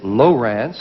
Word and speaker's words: Lowrance: teasing about your name you told me that you pronounce it Lowrance yes and then you came out here I remember in our last show and said Lawrence yes people have trouble